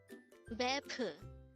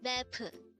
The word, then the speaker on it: 베프: BEPEU. BEPEU. This is pronounced as a two-syllable word. The first syllable is be, the second syllable is pu. Pronounce it with me. BEPEU. BEPEU.